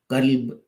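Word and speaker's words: كلب: An example is kalb and qalb. Kalb is a dog, and qalb is the heart. So it's a bit important that you pronounce the words correctly.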